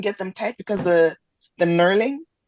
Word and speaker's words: knurling: them tight because the knurling. I realized I've been saying it wrong my whole life. I used to call it gnarling.